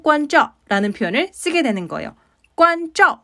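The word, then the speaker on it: 关照: 표현을 쓰게 되는 거예요 관점 발음하실 때 저 건설음이니까요 혀끝을 입천장으로 세워서 발음하시는 것 잊지 말아주세요 잘 부탁드립니다 칭또와도어 관점 자 상황적인 예를 좀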